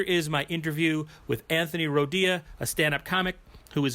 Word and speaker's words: Rodia: But yeah, I get called Rodia, radio, but no, you said it right first time.